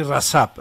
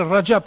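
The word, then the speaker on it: Recep: départ, on disait Rajab, mais maintenant, on dit Rasap, Rasap. Erdogan, on dit Erdogan. Lui-même, une fois, j'ai entendu qu'il n'était pas content, il disait, c'est quoi ces gens-là qui ne savent même pas prononcer mon nom et ils me donnent des ordres. Ils prononcent mon nom et ils vont me donner des ordres. Moi, je m'appelle Rajab Tayyip Erdogan.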